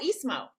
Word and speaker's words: Ismo: I forget how to pronounce his name. It's like Islo or something. Oh, Ismo.